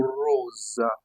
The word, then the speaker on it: rosa: Lorsqu'il est fermé, on le prononce O, O, O, O en italien. Par exemple, le mot rosa, rosa, rosa, rosa, qui signifie rose en français.